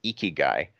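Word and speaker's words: 生き甲斐: have a word that I believe is pronounced eeky guy that's roughly translates to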